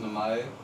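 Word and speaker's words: 名前: All you need to know is that this word is pronounced namae and it means name.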